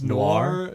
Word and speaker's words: Nour: just found his Instagram his name is nour like noi are it's nor nor but it's spelled n o ir n o u AR and he's he's an